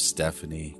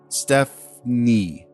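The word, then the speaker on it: Stefnee: name of stephanie goins miss goings's first name is spelled s-t-e-f-n-e-e but i'm convinced that her mom wanted her name pronounced stephanie so that's what i'm going to call her plus it's really difficult to pronounce two hard consonant sounds together f and n don't really roll off the tongue steph knee alright so stephanie it is now it's really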